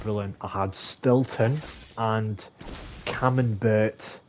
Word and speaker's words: Camembert: I had Stilton and Camembert, or Burr, a silent T it could be.